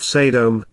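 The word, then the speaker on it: סדם: people ish individuals of sedom sedom scorched typically transliterated Sodom were bad ra were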